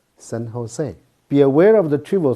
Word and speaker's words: San Jose: largest city in california is spelled as a n j o s e is not pronounced as saint jones but instead is pronounced in a spanish way san jose be aware of the